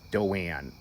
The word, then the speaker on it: Doan: And then and my mom's name is Doan, but it's spelled D-O-A-N.